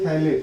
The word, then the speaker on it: phthalate: Ammonium थैलेट, pronounce क्या करेंगे? थैलेट। Spelling लिखेंगे PHTHALATE, अमोनियम थैलेट।